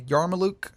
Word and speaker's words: yarmulke: So he was wearing a yarmulke. I'm not too up on my... Yarmulke. That's how you pronounce it.